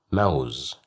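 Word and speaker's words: موز: Mouse, mouse, mouse. Here we have fatha, so that's why we pronounced it as ma, mouse.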